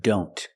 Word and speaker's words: don't: see the word don't a lot of times the T and don't is silent examples I don't know and I don't care I don't know if you link the sounds I don't know link the N with the other N I don't know here the t is between consonants so we don't pronounce it I don't know and